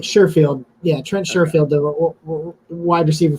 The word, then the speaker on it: Sherfield: some um surefield uh I'm not saying I'm saying his wrong name wrong aren't I I think it's Sheffield uh yeah I think you're talking about Sheffield no I'm right surefield yeah Trent sherfield wide